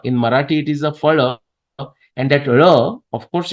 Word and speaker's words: phala: So pa and fa, we understand the difference. But actually, why just phala? You can also say phala. In Marathi, it is a phala, and that ra, of